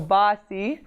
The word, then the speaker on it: basi: So basi, basi, basi. So it sounds like bossy, like you're a bossy person, like bossy, like you're telling them what to do, sit down.